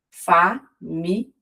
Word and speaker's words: família: No português europeu, a palavra família apresenta ali um iato ao seu final. A pronúncia, ela é feita de maneira diferente do português brasileiro e há uma intensificação, o que faz com que as duas vogais elas fiquem em sílabas separadas.